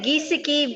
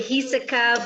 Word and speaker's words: Giesecke: and I'm like, Gisecki. That's say perfect. Most people say Giesecke, but it's a Dutch name. It's really Hiseka, but I accept all pronunciations.